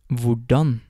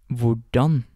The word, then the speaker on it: hvordan: Before getting on to the words themselves, I just want to note that most of these question words start with HV, and the H in these words is silent.